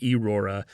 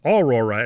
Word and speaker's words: Aurora: or not, but like he he constantly mispronounces Aurora's name. He usually says like Aora and in subtitles it'll even say Eurora and she's constant the Aurora is constantly correcting him. It's Aurora and he's like that's what